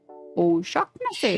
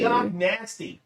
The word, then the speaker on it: O'Shaughnessy: O'Shaughnessy. Shock nasty. That's how it's pronounced. Shaughnessy. Nasty. Or O'Shaughnessy. Shaughnessy, not nasty. I don't know. There's no T in there.